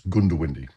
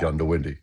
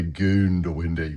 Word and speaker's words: Goondiwindi: fair school of thought from traditionalists that it's Goondiwindi, right? But I say Goondiwindi. Okay, so you're very close in your introduction before, very, very, very close. But just don't say Goondiwindi, which some people don't emphasise that, and you didn't.